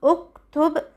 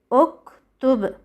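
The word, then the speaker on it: اُكْتُبْ: Ta is the third letter and the Ta has a Damma. So Hamzat al-Wasl also takes a Damma. So we pronounce uktub, uktub.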